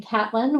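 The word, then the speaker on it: Caitlin: Um, so first of all, on the name thing, I pronounced my name Catelyn, which isn't obvious by the way that it's spelled.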